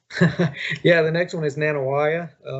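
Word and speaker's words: Nanih Waiya: We talked about Muscadine Farms, and the next one, you can pronounce it for me. Yeah, the next one is Nanawaya.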